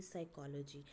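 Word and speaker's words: psychology: Silent letters जो हम letters produce नहीं करते, जैसे कि साइकोलॉजी, अब हम आगे तो पी लगाया पर हम बोल कहाँ से रहे हैं? स से, ठीक है.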